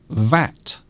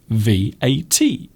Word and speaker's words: VAT: It can be an acronym, and we pronounce it as one word, VAT, which rhymes with cat, VAT. It can also be treated as an initialism, and we pronounce each letter separately, VAT.